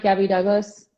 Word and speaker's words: Gabby Douglas: Gabby Douglas?